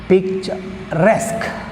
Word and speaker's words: picturesque: Picturesque, picturesque, see here 2 syllables, picturesque, resque is the last syllable, so we have stress mark on resque, last syllable.